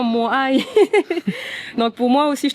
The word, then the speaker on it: moai: où étaient sculptés les moai, ces géants de pierre qu'on appelle moai. Je spécifie bien moai parce que j'entends des fois moé, je dis non moai.